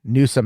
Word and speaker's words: Newsom: Newsom is 1, right? Newsom. It's 2 syllables, but it's 1 new.